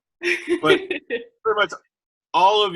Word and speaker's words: Kuehni: I have been mispronouncing her name. Kunai, for those out there. Kunai. Kuehni.